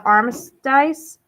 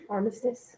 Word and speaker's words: armistice: four this village saw the signing of the arms dice armistice armistice thank you that stopped the war the